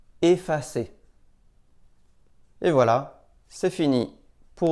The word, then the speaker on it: effacer: En début de mot, devant une même double consonne, on prononce aussi « et ». Par exemple, erreur, essai, effacer.